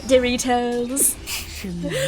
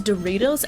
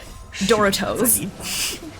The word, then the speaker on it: Doritos: not for real but Zach from the triy guys ironically pronounces it pronounces Doritos as if you were pronouncing Naruto and if you're wondering what does that mean it means that he pronounced it as Doro I saw I saw